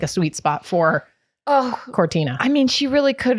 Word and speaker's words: Cortina: Yeah, Milan Cortina.